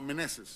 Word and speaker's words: Meneses: Oh, Meneses.